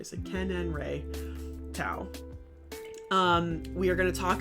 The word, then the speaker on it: Seqenenre Tao: Seqenenre Tao.